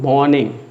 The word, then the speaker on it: morning: Don't say good morning. R will be silent. It will be good morning.